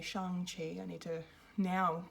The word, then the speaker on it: Shang-Chi: today to bring you my spoiler-free review of shang chi uh or i should really say shang qi i need to now pronounce it correctly now that i know um